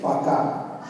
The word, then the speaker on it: пока: And to say bye, to say пока.